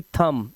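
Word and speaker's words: thumb: मतलब जटिल ऐसे ही थम अंगूठा थम तो इसके लिए सिर्फ थम थम ब नहीं कर ना है ऐसे ही सकम सकम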